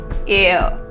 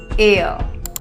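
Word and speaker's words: heir: of anti jewelry with her this word here air air euh prince charles prince william and his two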